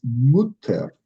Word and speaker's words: Mutter: And again, it's not mother, it's Mutter. So the U needs to be pronounced more U.